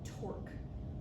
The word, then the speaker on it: torque: So this important concept to us is called torque. Starts with a T and rhymes with the person that you're sitting next to.